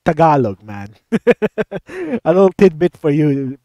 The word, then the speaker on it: Tagalog: remembering big jiggly panda a well-known YouTuber for pronouncing it Tagalog it's Tagalog man a little tidbit for you panda if